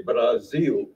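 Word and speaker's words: Brasil: say Brazil they say Brazil bra they still pronounce it with a z because it's between two vowels the A and the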